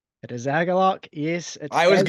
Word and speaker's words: Agalloch: Agalloch? It is Agalloch.